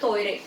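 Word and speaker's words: トイレ: Word है, उससे मिल जब एक जापानीज उसको प्रोनाउंस करेगा तो बोलेगा टॉयरे, ल उनके पास होता नहीं है, दे विल कॉल इट टॉयरे, तो टॉयरे वा आसोको दिस, टॉयलेट वहां है, ठीक है।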